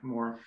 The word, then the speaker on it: Morrow: Yeah, Morrow.